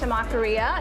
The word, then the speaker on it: Tamakiria: So the name is pronounced Tamakiria, and it is a combination of temaki and taqueria because our temaki is served taco style.